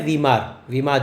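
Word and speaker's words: Weimar: इसका प्रोनाउंसिएशन है वीमार जर्मनी।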